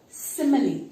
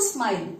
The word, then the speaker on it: simile: Simile. It's not smile. Simile. You see that syllables.